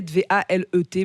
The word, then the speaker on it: Valet: Alors Blue Valet, j'appelle, hein, B-L-U-E, Blue Valet, V-A-L-E-T, mais ça se prononce Valet à l'anglaise.